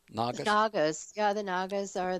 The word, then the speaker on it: Nagas: Am I pronouncing that correctly? Nagas?